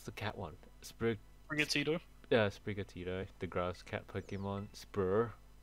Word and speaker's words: Sprigatito: How do you pronounce the cat one? Sprigatito? Yeah, Sprigatito.